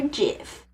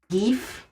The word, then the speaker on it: GIF: I would also, back when it was, like, very much in the zeitgeist, to be like, is it GIF or GIF?